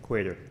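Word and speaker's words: Qader: need your name if you don't mind quater how do you spell it out q-a-d-e-r okay thank you okay so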